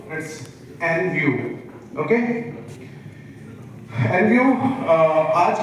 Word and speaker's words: Envu: सो N view का जो sound सही जो प्रोनाउंसिएशन है कई लोग बोलते हैं ना एन एन व या कुछ इस तरीके से बोलते हैं तो this is an view inspired by environment विज़ तो एनवायरमेंट के